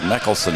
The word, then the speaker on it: Meckelson: Shot no good by Meckelson. M-E-K-A-L. Meckelson is what I was told to pronounce it.